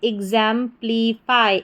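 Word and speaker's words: exemplify: तो पूरी स्पेलिंग हमारी क्या बन गई? एग्जांपलीफाई।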